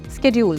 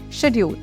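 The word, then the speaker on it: schedule: Take the word shed-yool for instance. Americans typically pronounce it as sked-yool, while the British pronounce it as shed-yool.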